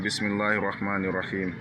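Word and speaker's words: بِسْمِ اللَّهِ الرَّحْمَٰنِ الرَّحِيمِ: Rahmani, on tire un peu le ma. Rahim, on tire un peu le hi. Ouais. Quand je double les voyelles, ça veut dire qu'on doit tirer sur la syllabe. La syllabe est une longue syllabe.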